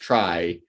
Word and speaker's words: trie: TREE tree sense and tree in the TRIE, sometimes pronounced try, like it has similarities